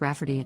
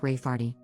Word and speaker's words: Rayfarty: name my niece Rayfarty, pronounced Rafferty, not at all like Rayfarty.